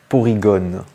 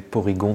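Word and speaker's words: Porygon: dit porigon ou porigon et bien on dit poryigon tout simplement parce que c'est un dérivé du mot polygone voilà tout simplement c'est vrai qu'on y a pas pensé même moi je disais porlygon depu depuis des années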